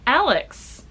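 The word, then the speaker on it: Alyx: to read and it follows Alex it's spelled a-l-y-x a temporal agent who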